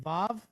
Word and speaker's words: Vav: Some people pronounce it Vav.